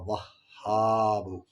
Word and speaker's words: وہاب: یا وہاب، یا وہاب۔ واو ہا زبر وہ، ہا الف زبر ہا، با پیش بو، یا وہاب۔ الفاظ اس طریقے سے